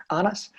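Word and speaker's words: Anders: So my best friend at school was Danish, Anas. And that's what I learned to pronounce, you know, the Danish, you swallow the D.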